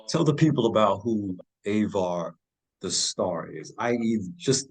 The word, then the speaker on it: Avar: now e brother please help me with the pronunciation of the last name oh yeah it's avar auxilla ailla so what is what is the